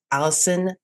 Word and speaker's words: Alison: And just reminder that her name is spelled A L I S O N. So, one L, not two.